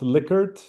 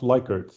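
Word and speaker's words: Likert: Uh, and fun fact, it's pronounced lickert, not liker.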